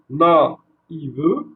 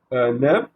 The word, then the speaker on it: naïve: Donc, se prononce na, i, ve, d'accord? Et non pas neve, d'accord?